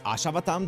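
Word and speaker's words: Ashwatthama: Kana Ashawatam. Really? It's Ashawatam. That's how it's pronounced.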